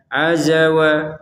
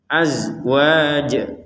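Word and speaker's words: أزواج: Perhatikan huruf zai ini tidak boleh dipantulkan ya. Tidak boleh seperti ruziqna minqoblu. Nah, ini kan dipantulkan ini baf. Maka ini tidak boleh huruf zai karena tidak masuk di baju di toko ya. ba jim dal qof th enggak masuk huruf zai maka tidak boleh dibaca azzawa azzawa enggak ada e-nya enggak ada pantulannya lah mati ya mati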